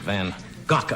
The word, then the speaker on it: van Gogh: a present for Vincent van Gogh, I guess is the correct pronunciation if you want to use the Dutch pronunciation, Vincent van Gogh.